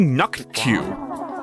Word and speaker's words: Naku: It's actually Naku.